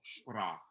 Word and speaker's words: sprach: Do you know the correct pronunciation of the word? Sprach? Say it again. Sprach. No. Sprechen. Sprach. We need the S. Sh. This SH sound. SCH. SH.